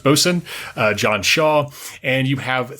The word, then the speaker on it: boatswain: You have the ship's mate, William Blake, the ship's boatswain, or spelled boatswain, but pronounced boatswain, John Shaw, and you have 3 able-bodied sailors who were recruited in Barbados to serve on board the ship.